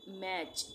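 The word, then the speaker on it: match: एक साथ आएगा तो वहां पर टी का उच्चारण नहीं होगा। आइए वर्ड्स पढ़कर समझते हैं। ये क्या है? मैच एम ए टी सी एच।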